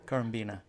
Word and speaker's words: Currambenna: It's pronounced Currambenna. Currambenna, yeah.